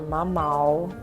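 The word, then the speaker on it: mamão: You guys, I'm finishing off my breakfast with a papaya or mama, is how you say it in Portuguese and a Brazilian drip coffee.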